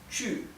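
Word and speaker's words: 去: mandarín es chu chu el tono s les indica que cae chu la u se pronuncia eh les dije que se pronunciaba como una u en realidad se pronuncia como una u es más parecida a la u umlaut de la alemán u y la q recuerdan que les expliqué en la clase uno que se pronuncia como una Che Así que el verbo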